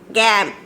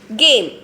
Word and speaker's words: game: So we should pronounce, we can't tell it as a gam. Gam. So it's not a short vowel, children, because we have two vowels. It is a long vowel.